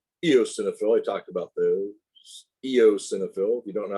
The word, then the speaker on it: eosinophil: i talked about those eosinophils you don't know how to pronounce it you pronounce the the e then you pronounce the o then it's a cenophil eosinophil basophil histamine heparin in